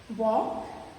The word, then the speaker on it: walk: We don't get the L sound of L in these words. Okay, we don't say wall or tall. Okay, we say walk, talk, chalk. Even though the letter is there in the word, but it doesn't produce any sound. So L is a silent letter there.